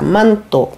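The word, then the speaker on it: манто: Vous voyez, on a N qui est prononcé. C'est pas aussi joli qu'en français, mais c'est comme ça. Manteau.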